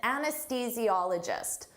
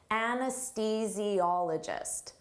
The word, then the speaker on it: anesthesiologist: An anesthesiologist. Don't let this spelling confuse you. Native speakers have difficult with the pronunciation of this. Anesthesiologist.